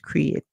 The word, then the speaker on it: create: eat instead it's we hear both vowels make a song and the e at the end is silent so our word there is create and what does it